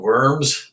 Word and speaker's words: Worms: I've actually been there, and they spelled worms, but it's pronounced Worms.